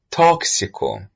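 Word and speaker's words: tóxico: The word toxico has six letters, but when pronouncing the word, we find it contains seven sounds.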